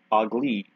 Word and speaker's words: Aug'li: And if you read the description on this, you're probably wondering how it's actually pronounced. Well, this fortress is named Aug'li.